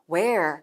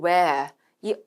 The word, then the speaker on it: where: 묻는 였어요 근데 성우가 where 이렇게 굴려서 읽지는 않았죠 왜냐하면 우리가 영국이나 호주식 발음으로이 단어를 발음할 경우에 흔히 where 또는 where이 are가 탈락이 되는 경우들이 있습니다 뭐 미국 식도 마찬가지요 미국식은 where 굴려 있고 영국 주식은